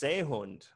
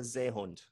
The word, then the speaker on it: Seehund: So in German, are all S's pronounced like a Z sound?